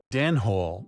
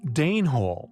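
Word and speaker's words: Danehill: such possibilities highly compelling Dan Hall yet pronounced Dane Hall after the Danes intriguingly their purpose although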